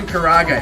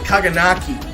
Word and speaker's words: karaage: At least, my old head, at least I can say chicken karage, because my old head chef used to call it kaganaki. And I was like, where the king hell, looking at KARAAGE, where do you get kaganaki from that?